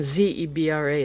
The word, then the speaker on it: zebra: said if you call if a girl's name is d-e-b-r-a is Deborah then z-e-b-r-a zebra and I guess that's the way they pronounce it there zebra we pronounce it zebra but I like it's